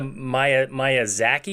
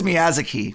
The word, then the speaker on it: Miyazaki: haven't even gotten to Maya Maya Zaki yet is that how you say it so yeah Miyazaki right I'm pretty sure it's Miyazaki 100% Final Answer lock